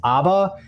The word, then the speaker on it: Abba: that but the release is called is actually pronounced Abba and that's that's Hebrew for for father so